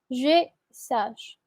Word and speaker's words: je sache: Ah oui, Pedro, la pronunciación es je sache. Je sache. Sache. Como una CH, vamos a decir al final, sin la E. Claramente no pronunciamos la E y va a ser que je sache.